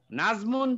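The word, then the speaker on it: النجم: Shamsia page number 21 Nazmun যে এই নুন, এই নুনটা হলো হরফে শামসিয়া, এই জন্য আলিফ লাম যোগ করলে লামের উচ্চারণ হবে না, আর নাজমু আর নুনের উপর তাস দিতে হবে, এখানে তাই আছে।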